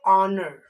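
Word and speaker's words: honour: या फिर ले लेते हैं ऑनर, HONUR, इसको हम लोग हॉनर नहीं, इसको हम लोग पढ़ते हैं ऑनर, ठीक है।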